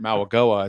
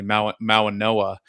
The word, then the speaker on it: Mauigoa: it's not really an N, it's like an NG.